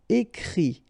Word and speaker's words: écrit: Okay, and then the IT, phonetically you pronounce E because final T is not pronounced, but still. Écrire, to write, écrit.